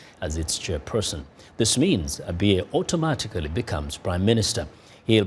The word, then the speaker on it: Abiy: First, how optimistic are you that Abiye would make a difference in the coming days as a prime minister? Let me begin by slightly correcting you how to pronounce his name. It's not Abiye, it's Abiy.